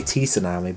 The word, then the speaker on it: tsunami: uh tsunami so yeah so now we say the t silently i always used to say tsunami but it's actually a silent t so yeah it's just